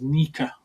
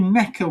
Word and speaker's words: NECA: I'm thinking about starting to pronounce it as Nika. Are you? Yeah. Because surely NECA would be NE C A or NE C K A.